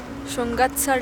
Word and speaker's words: Shungatsar: This is actually, the pronunciation is Shungatsar Lake.